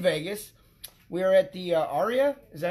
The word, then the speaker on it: Aria: We are at the Aria. Is that how you say it? That's right. We're at the Aria.